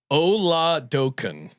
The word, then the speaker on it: Oladokun: So Doken? DOE. Doe. Oladukin. Like doe a deer. Okay, say it again. Dokun. Oladokun.